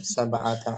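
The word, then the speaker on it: سبعَ: Naam, sab'ata asyara Taliban. taliban. Muannasnya Mana? Sab'a asrata talibatan. Sab'a, bacanya sab'a.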